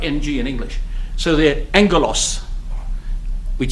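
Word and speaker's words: ἄγγελος: A g g e l o s Double g in Greek is pronounced enya, like ng in English. So they're angelos.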